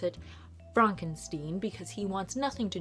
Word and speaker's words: Frankenstein: It begins with Frederick Frankenstein, or as Frederick likes to pronounce it, Fronkensteen, because he wants nothing to do with his grandfather, Victor Frankenstein.